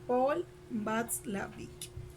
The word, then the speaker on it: Watzlawick: es watzlawick porque porque la w en alemán se pronuncia como be sí como ve así entonces sería paul watzlawick bueno en fin no